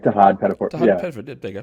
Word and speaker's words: Tahaad Pettiford: I'm sure am I mispronouncing that? I hope I'm getting that correct. Uh, yeah, like Tahaad Pettiford.